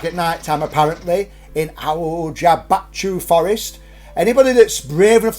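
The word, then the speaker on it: Hoia-Baciu: Now, I phonetically wrote this, so I know how to say it. Aljabachu. How's your Bachu? My Bachu's very Oh, that's all right then. Aljabachu. So Aljabachu Forest is regarded as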